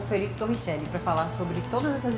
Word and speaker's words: Torricelli: Que é italiano, é o nome italiano, mas a escrita é como se fala, Torricelli. A pronúncia é Torricelli, né? Mas para facilitar, Torricelli.